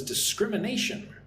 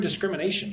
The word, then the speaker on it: discrimination: Len says discrimination. Let's look at the word discrimination. Listen and repeat. Discrimination. So, five syllables. Discrimination. Put the stress on the second syllable.